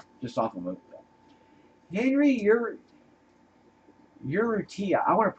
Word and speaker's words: Urrutia: Henry Urrutia. I want to pronounce his name right. Henry Urrutia.